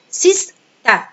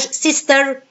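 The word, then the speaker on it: sister: وقلنا قبل كده ان الليتر r لما بيجي في نهايه الword بيبقى الفن مش موجود، بيبقى اجي انطقه خفيف خالص ما بسمعوش في ايه وانا بنطقه سيستا سيستا، مش سيستر سيستر نو اتس رونج، اقول سيستا سيستا.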